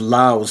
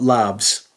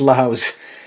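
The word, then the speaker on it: LAVS: am reliably informed that this is pronounced Laos not labs as in lavatory it's pronounced Laos uh this was released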